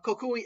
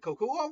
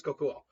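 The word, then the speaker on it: Kokuō: And then K uh Kokui, I can never pronounce his right. It's not Koku. Is it Kokuo? I think it's Kokuo.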